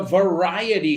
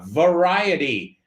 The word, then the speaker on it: variety: As you know, this is a variety show. Vamos a pronunciar esa palabra, variety. No sabes cuántas veces he oído variety, right? Variety.